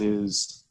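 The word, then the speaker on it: [ai]: So, yeah, it's pronounced I, like first person singular, or the ocular organ that you see with, or the Chinese or Japanese word for love.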